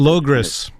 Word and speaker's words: Logres: And something that Lewis talks about is like, I guess I don't exactly know how to pronounce it. It's like Logos or Logres. Like Logres.